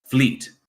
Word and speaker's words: Vliet: Fleet. So that V is like an F? Yes, a soft F.